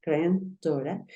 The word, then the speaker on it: granddaughter: caso vamos a tener en cuenta que se pronuncia granden son grandora y que significa Nieto Nieto o podemos tener